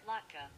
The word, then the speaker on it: latke: Let me see how you actually pronounce it. Okay. Latke. I said latke. I'm so stupid. Okay, so it's pronounced like this. Latke.